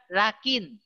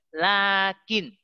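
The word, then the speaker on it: لكن: Lakin. Bukan lakin. Lucu. Lakin kalau lakin lucu. Tapi lakin. Lainnya panjang. Lakin. Lakin. Gitu. Jangan lakin gitu ya. Itu setelah la ada huruf. Dia tidak tertulis. Tapi diucapkan. Gimana pengucapkannya? Dengan dipanjangkan. Lakin.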